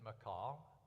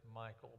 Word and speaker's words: Michal: Some people do pronounce it Michal. And in Hebrew, that's much, much closer to the name. And so different people say, well, I don't know exactly how to pronounce it, but generally you'll hear it as Michal, but it really doesn't have to be. It's closer. That's not real close to the Hebrew, unfortunately.